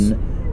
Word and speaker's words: Beaune: And did I pronounce that right? Beaune? Bonne? Yes. Beaune.